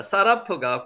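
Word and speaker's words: שָׂרַף: 그래서 요거는 시읍 발음이 나가지고 사라프라고 있습니다.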